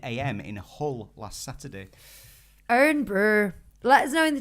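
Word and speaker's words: Irn-Bru: Well, I mean, that's how you say Iron Brew without the vowels.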